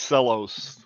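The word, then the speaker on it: Cella's: stock it with covered cherries oh and it's pronounced cellos I see I've been wondering how that's said I love those cherries yeah they're they're called cellos c l l oos now you can really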